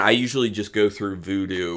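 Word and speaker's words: Vudu: usually just go through Voodoo which is spelled v du it's owned by Fandango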